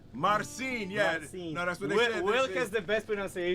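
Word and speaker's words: Marcin: Mar Marine m a r c i n Marine yeah no that's what they is the best pronunciation marine marine yeah so no so I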